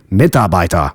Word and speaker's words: Mitarbeiter: It's also important to make the distinction that the letter R at the end of a word is pronounced like a reduced A sound, like in Mitarbeiter.